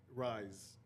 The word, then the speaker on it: Ryze: So I ordered Rise. That's how you say it. RYZE.